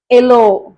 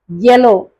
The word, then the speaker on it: yellow: ஓ நம்ம தப்பா ப்ரொனவுன்ஸ் பண்ணுவோம் அப்படின்னு சொல்லிட்டு எல்லோ, எஸ்டர்டே அப்படின்னுவாங்க.